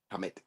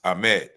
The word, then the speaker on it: Ahmed: His brother's name was Hamad, but they spell it Hamet. Hamet. Yeah, like Ahmet, but with an H on the A, H on the front. But it's Ahmed, like AHMED. Okay.